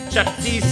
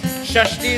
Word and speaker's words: Shashti: Chattis is a mispronunciation of Shashti. Shashti is the mother that gives the lady the knowledge about children.